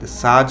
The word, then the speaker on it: surge: এটা ব্যাপকভাবে বৃদ্ধি পাচ্ছে সাজ শব্দটা এখানে আমরা দেখব আমরা দেখতে পাচ্ছি আরটা উচ্চারণ হচ্ছে না সাজ সাজ ইজ সাডেন পাওয়ারফুল ফরওয়ার্ড